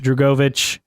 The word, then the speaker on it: Drugovich: Felipe Jurgovich? Yes. I think is how you say his name. Yeah, F2, Drugovich.